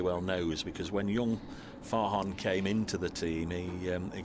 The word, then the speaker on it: Farhan: knows, because when young Farhan came into the team, he gave me some elocution lessons, which I've saved, and I love playing this. It's Farhan, not Farron.